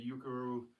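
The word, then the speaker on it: Ukeru: And I'm also recommending Jamie Payne um who does the Yukuru training uh which did I pronounce that right, Del?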